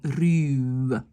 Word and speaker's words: ruwe: Uren, dur, ruwe, hein, quand il y a un W derrière, oups, c'est aussi un long U, ruwe.